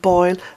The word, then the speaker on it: Boyle: to research that UFO boil boil is spelt Bo yl e and boil is my